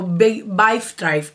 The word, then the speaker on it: Vibe Tribe: trive o vi trive o be Tri O B Drive se pronuncia B Drive que lo he buscado y